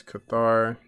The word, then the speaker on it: Cathar: Dauntless Cathar, that's how you say it.